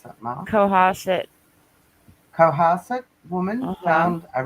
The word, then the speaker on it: Cohasset: Is it how do you pronounce that, Mark? Cohasset.